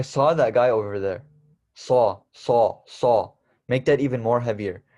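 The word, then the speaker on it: صاد: that even more heavier so instead of saying saw I saw that guy say make your uh tongue be at the side of your teeth it's very heavy and then just add a d at the end so I okay so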